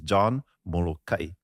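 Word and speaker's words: Molokaʻi: If you're going to omit that okina over there, then it's molokai, not molokai, which is the normal local jargon, local pronunciation, Kauai, lanai.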